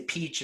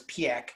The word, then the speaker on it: Piëch: However, when Ferdinand Piëch, and that's how you pronounce it, a lot of people say Peach and Pike, and a lot of it's Piëch, was still alive, he